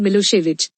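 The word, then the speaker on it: Milošević: were in majority a narrow-minded Serb nationalist oswick pronounced milosevich had won the election his government was very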